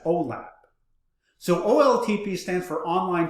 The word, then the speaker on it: OLAP: and ol8b the lat the the latter is sometimes sometimes uh pronounced as olap so oltp stands for